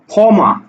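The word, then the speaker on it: ক্ষমা: আমি আরেকটা শব্দ লিখলাম খ মামা দেখো খ মামা এই খিয় টা কোথায় আছে শব্দের প্রথম বর্ণে অর্থাৎ তখন এটা কিন্তু উচ্চারণ হচ্ছে খ মা ম আকারে মা খ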